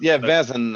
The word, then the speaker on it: Vaesen: mispronounce things all the That's time. fine. That's fine. It's Vaesen.